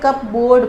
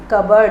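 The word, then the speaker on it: cupboard: Guys this is कबर्ड, this is, बहुत सारे बच्चे इसे कप बोर्ड पढ़ते हैं बट इट is wrong, the pronunciation is कबर्ड, और कबर्ड मीन्स अलमारी।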